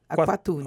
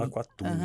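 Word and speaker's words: Aqualtune: Então se pronuncia Aquatune. Aquatune.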